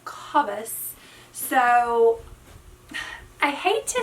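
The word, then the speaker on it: Cabas: where i review it i say it wrong i say kabus but it is kabus so i hate to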